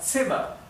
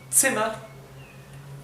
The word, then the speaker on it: Zimmer: La Z en alemán siempre se pronuncia ts. Por ejemplo, la palabra Zimmer. Zimmer significa habitación.